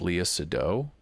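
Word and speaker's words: Léa Seydoux: I believe her name is pronounced Leah Sado, who plays Fragile.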